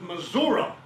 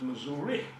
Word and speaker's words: Missouri: state, you pronounce it Missouri. If you were born in my state and lived your whole life in my state, you pronounce it misery.